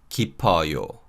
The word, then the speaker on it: 깊어요: And in this combination, the sound of 피읍 받침 carries over to the following syllable in the suffix. So this is read 깊어요, 깊어요.